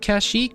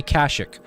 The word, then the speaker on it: Kashyyyk: I've heard different pronunciations of Kashyyyk. I've always said Kashyyyk, but I've heard people say Kashyyyk. Kashyyyk or Kashyyyk. I've heard both used interchangeably, I think in the